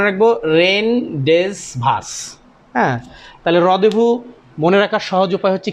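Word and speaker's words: rendezvous: সঠিক উচ্চারণটা আগে আপনাদেরকে লিখে দেই এটা সঠিক উচ্চারণ হচ্ছে হচ্ছে রদেভু এটা মানে হচ্ছে একটা মিটিং প্লেস এটা মানে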